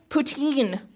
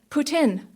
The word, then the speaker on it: poutine: in North America but they always pronounce it wrong they say poutine when really it's more like Putin but French sounding deer corner store convenience